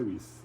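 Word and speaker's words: Ries: autor chamado Eric R escreve r i e s mas a pronunci é R ele fala o seguinte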